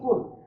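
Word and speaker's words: قل: অথচ এই জায়গায় বলছে বলুন, আর এই জায়গায় আপনি বলছেন কুল। সুতরাং এটা আমরা ভুল উচ্চারণ, আর এটা হচ্ছে সঠিক উচ্চারণ।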